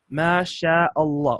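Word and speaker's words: ما شاء الله: Masha Allah alright in the correct way to pronounce is match Allah Masha Allah open your mouth and elongate Masha Allah by many people say masha'Allah masha'Allah or Masha Allah or happy that that's incorrect because if we just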